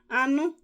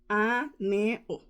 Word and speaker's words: anụ: Anu is meat. Anu. So I'll spell it in English. A-N-U. So in Igbo is aneo, meat.